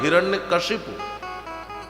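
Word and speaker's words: हिरण्यकशिपु: शुद्ध नाम है हिरण्य कशिपु।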